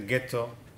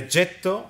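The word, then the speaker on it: getto: they were given the jetto The Foundry and it may have been the incoming German Jews who mispronounced the G of the jet and turn it into the ghetto out there there are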